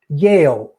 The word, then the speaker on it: Yale: Yeah, I always say Yale, and then they're like, "What, behind bars?" I'm like, "No, it's very hard for me to distinguish." Say it again. Yale. That's perfect. No, it's Yale.